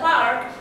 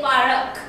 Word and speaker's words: park: For example, the word park. When I say this park, okay, students often use this insertion of vowel and they say parak.